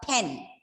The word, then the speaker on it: pen: no no no so whenever you read words starting with the letters t t k you have to pronounce them in such a way that you feel an expulsion of air okay for example this is a pen okay it's a pen not simply pen so just keep your hand in front of your mouth and say pen you can feel the air you have to give